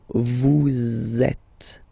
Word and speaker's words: vous êtes: So in that case, vous is ending with S, and then you tend to make a little link between them. So vous êtes, z, it goes like that.